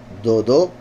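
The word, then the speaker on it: דוד: ver si aquí, sí, Dodó. Recuerdan que Dod es tío y se escribe igual que David. Se pronuncia diferente, claramente.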